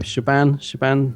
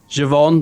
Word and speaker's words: Siobhan: Siobhan? No. Siobhan, that's the one.